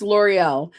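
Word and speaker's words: L'Oréal: You said L'Oreal. It's L'Oreal.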